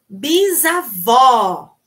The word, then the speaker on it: bisavó: minha mãe certo ok bisavó ai pronuncia comigo aí bisavó bem aberto bisavó bisavó é feminino